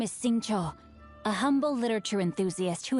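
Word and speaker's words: Xingqiu: My name is Sing Cho, a humble literature enthusiast who happened to be passing by. Xing Cha. So I was saying it wrong.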